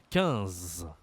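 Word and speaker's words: quinze: 14 15 Attention ici à la prononciation, tu as encore une fois une voyelle nasale 1 comme le 1 ici c'est pareil, c'est 15 et pass.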